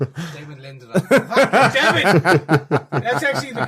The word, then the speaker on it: Damon Lindelof: I don't know what you're saying yeah say Damon Lindelof Damon Lindelof Dam it that's actually the correct pronunciation of his name everyone else is getting